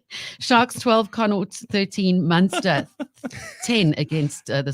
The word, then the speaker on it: Connacht: How do we pronounce this sports team? Connacht. Connaught. Oh, Connaught. Sharks 12, Connaught 13, Munster 10 against the Stormers at 3.